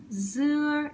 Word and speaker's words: dưa: Dưa is a flat tone and it means watermelon.